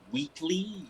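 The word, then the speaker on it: Whateley: It was pronounced Wheatley.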